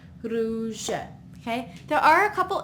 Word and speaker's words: rouge: In this case, it's an A, so it's k, Here we have U makes it sound oo, oo. So with the R in front, it's r, ru, rouge.